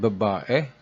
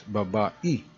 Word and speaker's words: babae: So Cebuano pronounce ano or what as anu, and babae or woman as babai.